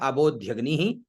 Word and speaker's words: अबोध्यग्नि: सर्वप्रथम हमारे सामने मंत्र है अबोध्यग्नि ही समिधा जनानाम, ठीक है। तो आबो, अ और बो, तो आबो ध्यगनी ही, आधा द आधा ध य आधा ग और नी और विसर्ग, तो उच्चारण क्या हुआ?